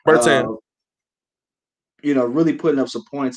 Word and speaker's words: Bertans: How do you pronounce the young man's name? Bertans.